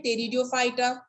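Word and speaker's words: Pteridophyta: है nightie stereo fighter यहां पर पी साइलेंट चीजें टेरिडोफाइटा एंड जो कि वर्तमान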